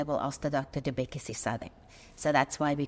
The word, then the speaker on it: Bhekisisa: you're doing at, and I want to pronounce this correctly, Bhekisisa? That's excellent pronunciation.